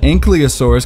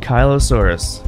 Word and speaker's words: Ankylosaurus: my whole life I've been called an ankylosaurus because I thought it's down by your ankles but that's not how you say it it's ankylosaurs and kylo Saurus and kylo Ren oh nice right nice